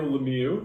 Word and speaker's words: Lemieux: Lemieux? Sorry. Ouch, that. I'm sorry. Let me just tell you how it's spelled. Lemieux. You try to spell that. Okay, it's Mario Lemieux.